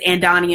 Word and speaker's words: Andonnia: since it's officially four o'clock my name is Anne Donny and it's not hard to pronounce if we can pronounce Tchaikovsky we can